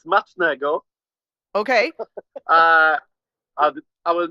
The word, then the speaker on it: smacznego: In Polish, it's smacznego.